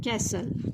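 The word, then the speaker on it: castle: इथं सांगायचं विसरून गेले ह्यामध्ये टीटी हा काय आहे बघा सायलेंट आहे तर बघा ्या वाक्याचा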